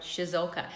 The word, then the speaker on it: Ciesiolka: and stuff like that, people obviously struggle to pronounce it, but yeah, they eventually get there in the end. That's right. It's the Ciesiolka. Yeah. Ciesiolka.